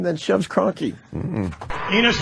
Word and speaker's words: Enos: Enos rhymes with Venus. Yes, it does. You thought I was going to say something else, right? That Enos was going to rhyme with genius, but we know you're